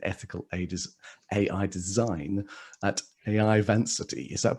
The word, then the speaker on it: Vancity: AI Strategy and Ethical AI Design at AI Vancity. Is that pronounced correctly?